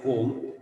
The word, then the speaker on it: comb: And last letter, for example, area, A-R-E-A, comb, C-O-M-B. There comb only, but we do not say comb, we say comb. So B is silent there.